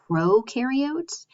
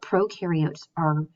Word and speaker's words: prokaryotes: And those are prokaryotes and eukaryotes. So pro rhymes with no, which is a good way to remember that it has no nucleus.